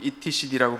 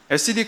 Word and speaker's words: etcd: 네, 오늘은 SCD 클러스터에 대해서 얘기해 보려고 해요. 저는 이제 보통 etcd라고 부르는데 이제 여기 그 영미권 친구들은 SCD라고 그러더라고요. 그래서 저도 이제 힙하게 발맞추기 위해서 저도 한번 SCD라고 발음해 보겠습니다.